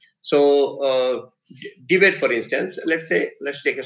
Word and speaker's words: debate: There it's a verb, and therefore the accent is on the second syllable, bait. So debate.